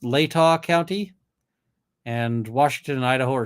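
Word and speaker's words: Latah: ways right stress Etc and I see it's pronounced Lata County and Washington Idaho are six miles apart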